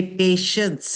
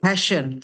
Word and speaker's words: patience: person meant to say patience yeah but the way this person person pronounce it it heard more I heard it more like passion so be careful patient sabaria patient not pass passion each children should be